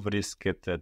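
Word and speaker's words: βρίσκεται: Pou vriskete tora. Very good. Pou vriskete tora. So the ete ending actually sounds like the plural you ending. No, it's spelled differently, but it sounds exactly the same.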